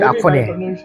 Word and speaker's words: axone: akoni, yes akoni, yeah, we call it akoni। The yes, spelling is AXONE, right? Yes. But it should be pronounced as akoni, akoni.